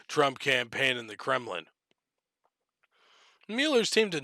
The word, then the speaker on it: Mueller: com by the by the miller by the mueller that's how you're supposed to pronounce his name by the robert mueller